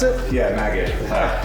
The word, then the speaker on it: Maged: That's how you pronounce it? Yeah, Maged.